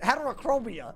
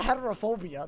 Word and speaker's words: heterochromia: Heterochromia. It's not heterophobia.